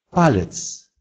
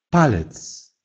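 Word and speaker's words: palec: «П» – палец, палец. То же самое, что и палец в русском языке.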